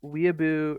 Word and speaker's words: Weeaboo: Okay, I heard Imac pronouncing it as Willaboo, and I'm like, are we sure about that? So No, I'm quite sure it's weeaboo.